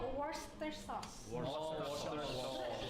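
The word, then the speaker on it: Worcester sauce: Saus bistik tuh tulisannya warer yang susah banget dibacanya itu bacanya worster sauce.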